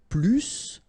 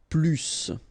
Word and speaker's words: plus: French language with this plus. Okay, because in some cases you will have to pronounce the final S, and in other cases you won't.